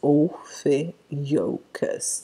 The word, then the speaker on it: Ophiuchus: o the ukís Ophiuchus that's how it is pronounced Oh yokas this Oh F EE why in K you